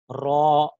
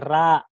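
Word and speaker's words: ر: At ang letrang ito ay kung bibigkasin po natin, kailangan po ang ating bunganga ay pabilog din po. Ro. Okay, wag po nating basahin ng ra. Okay, ra, hindi ro. Ro. Okay? Ro. Parang pabilog po yung ating bunganga.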